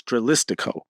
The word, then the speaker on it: Dralistico: I always get his name wrong. It's Dralistico.